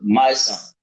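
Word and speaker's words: Mysonne: So the lead rapper we use is actor, activist, and author My Son. My That's Son. how Okay. he pronounces his name.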